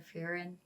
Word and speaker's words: Frieren: with the pronunciation of furin cuz I hear it I always hear like a little slight roll of the RS but for the life